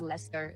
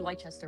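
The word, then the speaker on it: Leicester: Yeah, it's Lester. It's literally Lchester.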